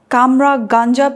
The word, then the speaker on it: Cummeragunja: The whole movie Ablaze was very interesting, particularly the bit about the Kamra Ganja people. Am I pronouncing it correct? Yes, that's correct.